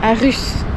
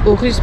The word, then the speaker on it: Aarhus: Nous avons pris la direction de Aarhus, puisque ce qu'on nous on prononce Aarhus, eux ils le prononcent Aarhus parce qu'il y a 2 A.